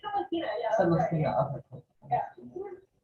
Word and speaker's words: Celestina: And how do I pronounce it? I'm sorry. It's Celestina, yeah.